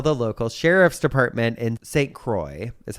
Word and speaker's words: St. Croix: then they tell the local sheriff's department in St. Croix, is how you pronounce it, c r o i x, St. Croix.